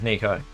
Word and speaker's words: Nico: I'm saying Nico because if it was... because that's how English works. It would be pronounced Neko if it had a CK in it. I'm pronouncing it how it reads in English.